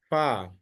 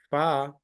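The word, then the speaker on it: فاء: this is the letter this one is fa is the letter from lips earlier we learned ba B also coming from the lips this far the top teeth must touch the middle of the lower uh lips lower lip here if you touch here uh then you have to take out the sound slowly fa this is the one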